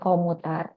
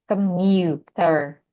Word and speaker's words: commuter: kan dari ke, ini bukan O ya, bukan komuter, tapi ke, mu, J di dalam fonetik simbol ini kan dia dibacanya sebagai Y ya, commuter. Jadi untuk yang bentuk di bagian sini bukan ke komuter gitu.